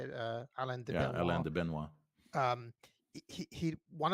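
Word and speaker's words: Alain de Benoist: Alain de Benoit.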